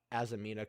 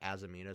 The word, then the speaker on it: Azamina: I think it's going to be $8 for a reason, because same with the Saint Azamina card. I say Azami for some reason instead of Azamina, so you guys know how it is on this channel.